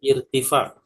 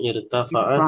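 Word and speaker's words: ارتفاع: Irtifa. Ya, bukan irtafa'a tapi irtifa. Dolamu layuhni dolamu layuhni Irtifa'u zalimi la ya'ni ihmalallahi lahu.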